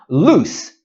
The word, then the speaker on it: loose: On the other hand, loose has an S sound at the end. Loose.